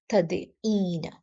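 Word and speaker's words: تَدْعِينَ: So it is not possible for a dhamma to come before a ya, before a ya with a sukun. So therefore the ain gets a kasara. Therefore we pronounce it as tad'een.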